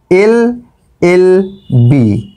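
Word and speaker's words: LLB: দেখো এর উচ্চারণটা কি? আমরা কিন্তু বলছি দেখো এল, আগে বলছি এ, তারপরে গিয়ে বলছি ল। তাহলে প্রথমেই দেখো এখানে এই উচ্চারণটা আগে আসছে, সেই জন্য কিন্তু এখানে আসবে অ্যান, অ্যান এল এল বি।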